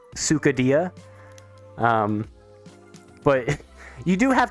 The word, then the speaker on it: Sukadia: they're pronouncing it like sukhadia um but you do have to be very very specific like I usually spell it out like Sue like suing someone uh which is just